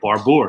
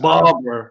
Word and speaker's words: Barbour: okay you know nothing yeah I was completely wrong it's Barbara just Barber you know just completely